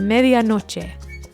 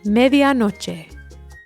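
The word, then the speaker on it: medianoche: say midnight in Spanish the Spanish word for midnight is Medan no so repeat after me media no media no media no media no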